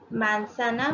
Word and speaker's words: manzana: Manzana means an apple. So you must have noticed that manzana has a Z. In Spanish, Z is pronounced as S in some words. So it will be manzana.